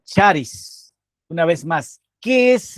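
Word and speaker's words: χάρις: Y ahí está la palabra en griego, pero también como podemos pronunciar charis una vez más, ¿qué es la gracia?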